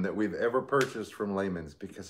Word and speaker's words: Lehman's: diamond whatever from uh lehman's oh man i have such a wish list from lehman oh i know layman's it's layman's you said it right you know i had